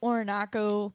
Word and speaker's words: Orinoco: So this Cobra Lounge show that we had Air Raid, Orinoco, That rhymes with foreign taco.